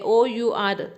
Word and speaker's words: our: हम इसको हमेशा और बोलते हैं, OUR, इसलिए हमेशा इसके आगे हम एन यूज़ करते हैं।